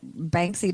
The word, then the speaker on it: Banksy: Yeah, Banksy.